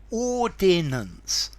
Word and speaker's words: ordinance: these two words firstly in theory they sound different when you say them ordinance ordance um the first one's supposed to be three syllables with the extra I and the second one is supposed to be two syllables the problem is everybody